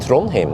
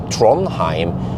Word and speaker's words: Trondheim: about uh tron him i said throne him that's the correct way of saying it not trondheim and what about my